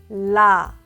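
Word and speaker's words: 라: listen to the pronunciation la la la la to pronounce Lia touch your Upper Front gums with the tip of your tongue and make a sound as you remove the gum tongue contact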